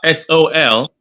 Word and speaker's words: sol: called Saul saw the floor it's so that's s-o-l is understood So Sol is the hard flaw